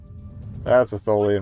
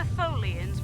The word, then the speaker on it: Tholian: Rhymes with... I was going to say rhymes with Bolian, but that's another race from the series. And it does rhyme with Bolian. Rhymes with Morolian, there we go.